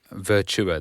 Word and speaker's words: Virtua: Virtua, that's how you say it. I'll get told off for saying What are you saying, virtual?